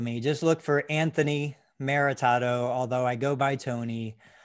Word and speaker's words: Maritato: don't know you say your last name and spell it if you would sure it's maritado m-a-r-i-t-a-t-o and i knew you first because you